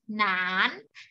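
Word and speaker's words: 难: นาน วรรณยุกต์ เสียง 2 เป็น จัตวา ก็ คือ หนาน ทำ นี้ อ่าน ว่า หนาน แปล ว่า ยาก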